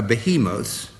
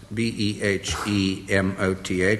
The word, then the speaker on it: behemoth: Now, this is difficult because there are 2 ways of pronouncing it, and I'll try both. It's a behemoth, B-E-H-E-M-O-T-H, or a behemoth, spelt the same way.